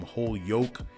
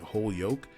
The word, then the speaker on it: Holyoke: california mayor alex morris from whole yoke i think that's how you pronounce it holyoke uh massachusetts mayor choke